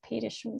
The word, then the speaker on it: Petterson: It's written Peterson, but apparently they pronounce it Petterson, so I'm trying to to do that.